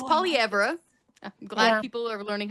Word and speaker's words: Poilievre: us, you know, Anglo kids were calling him Polliver. So anyway, it's Polyra.